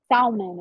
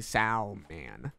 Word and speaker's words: salmon: L in it, so I say Salman. It's Salmon. Getting dark.